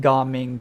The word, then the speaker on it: Gaming: such a hard time I know it's pronounced gaming too and I wonder if